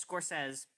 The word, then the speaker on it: Scorsese: because before i um i figured out the pronunciation of his last name i say scorsese score says no no no z just score says no discourse says it's